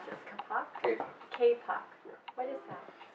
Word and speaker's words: kapok: So, because I had never heard of, how do you pronounce this, kapok?